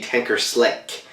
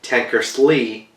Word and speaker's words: Tankersley: it like that is because in my part 1 videos I kept saying Richie Tankerslick Cusick and I kept saying it wrong the whole video, so that's a major fuck up, but I'm saying it right now.